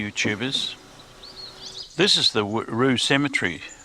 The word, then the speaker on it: Whroo: This is the Rue Cemetery. It's spelt W-H-R-O-O, but it's pronounced Rue. It is the Rue Cemetery.